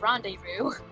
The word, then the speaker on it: rendezvous: I think it's a French word, but I think I thought it was pronounced that way, but apparently it's pronounced rendezvous.